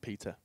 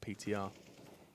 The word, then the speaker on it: PTR: Someone just tweeted me angrily telling me that it's pronounced Peter, not PTR.